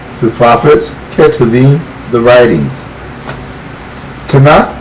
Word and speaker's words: Tanakh: Tanakh rhymes with Bach.